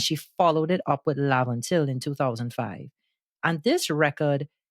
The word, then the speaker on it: Laventille: Some people say Laventille when they're talking about Laventille, but we're using the word Laventille, the pronunciation here.